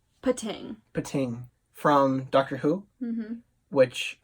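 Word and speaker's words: Pting: So we have Ting. I assume the P is silent. Pating.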